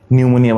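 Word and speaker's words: pneumonia: কিছু কিছু বানানে প্রথম অ্যালফাবেটটা থাকে সাইলেন্ট, যেমন সুনামি বানানে টি সুনামি, নিউমোনিয়া বানান পি নিউমোনিয়া, সাইকোলজি বানান পিসাই চলো যাই মানে পিসি চলো যাই, নিউমোনিক বানানে এম নিউমোনিক।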